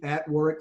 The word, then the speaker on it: Warwick: And that is true for Warwick as well. I always tell people, if you want to engage Crucible Leadership on LinkedIn, you go to @Warwick Fairfax, and it's with the silent W in the middle, WARWICK Fairfax.